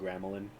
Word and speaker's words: Gramelin: Gramalian. Gramalian. I think I spelled it wrong. I pronounce it Gramelin, but Gramelin.